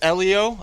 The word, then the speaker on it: Ellio: people who you are man um well it's Elio um a lot of people like pronounce it it's all good it's all it's totally understandable I'm so used to at this point I've got cussed up by everybody about that